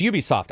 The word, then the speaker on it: Ubisoft: The people who run the company were like, it's Ubisoft.